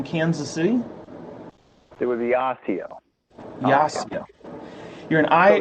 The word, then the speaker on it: Osseo: high school in kansas city it would be osseo yes yeah you're in i actually was in